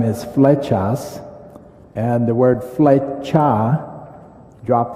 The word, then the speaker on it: Flechas: for and then my last name is fetas and the word feta drop the s means